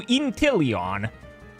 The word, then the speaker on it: Inteleon: So Inteleon. Oh fuck, that's a hard one. Maybe. So wait, you don't... Wait, how does one spell it? No, wait, yeah, it's not that like a lion. It's Leon.